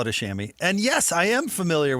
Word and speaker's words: chamois: A chamois cloth, pronounced chamois, extremely soft, absorbent, durable material.